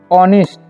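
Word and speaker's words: honest: ही is very kind ठीक है एंड ऑनेस्ट ठीक है इस नेस्ट नहीं पढ़ना इसे नेस्ट पढ़ते हैं साइलेंट रता है ठीक है यह बात आपको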